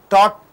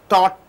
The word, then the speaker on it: taught: This T here this T is not spelled out. It is kept inside your mouth. Hit caught taught is not spelled out. Teacher, you are spitting it out. When T at the beginning of the word, you are spitting it out. T at the end of the word, it is stuck in your mouth.